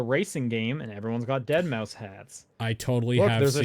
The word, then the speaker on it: deadmau5: with the spirit of dead mouse around them great also came up and he said hey i'm you know my stage name is deadmau5 yes that's the way you're supposed to pronounce it and then he